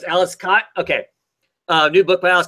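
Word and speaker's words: Aleš Kot: I always say Alice Cott. Okay, so it's Alice Cott.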